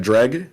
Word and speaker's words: Dreg: Uh, we got Dreg, that's how you say his name, by the way.